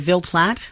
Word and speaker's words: Ville Platte: So this investigation begins in, am I pronouncing the town right, Ville Platte? That's correct. Okay. Where is this town? And tell us, paint a picture of what it's like there. Sure. Ville Platte is sort of in the south-central part of